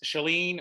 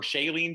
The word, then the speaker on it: Chalene: comes to mind is chalene or shailene johnson depending on how you want to pronounce it uh who was the